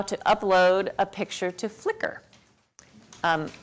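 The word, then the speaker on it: Flickr: will learn how to upload a picture to flicker um f l c KR if you've never used that it's pronounced flicker even though it's a little bit confusing on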